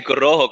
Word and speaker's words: Corojo: Hey, you can really roll your R's, eh? I'm learning. Yeah. I'm glad someone noticed finally. I was told I have to roll my R's from someone. So. Yeah, you say Corojo. Good.